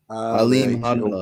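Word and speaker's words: Alimkhanuly: Yeah, it's Hanala. Alim Hanala. The KHH. Alim Hanala. Yeah, it was hard for me to say at first, but I heard Tim Bradley and then pronounce it. That's how they said it.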